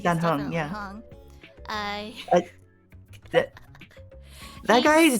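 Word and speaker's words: Dan Heng: I don't know how to pronounce his name. Yeah, I think Dan Hong.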